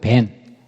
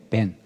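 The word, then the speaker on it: בן: 그래서 히브리어 발음으로 아들은 벤, 그리고 돌은 에벤. 그러니까 발음이 똑같아요, 거의. 에벤, 벤.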